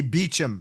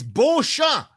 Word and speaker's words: Beauchamp: It's like people that see the name Beauchamp, they say Beecham. I'm like, Oh what? yeah, no, no, no. How are you getting Beecham? It's Beauchamp. Read.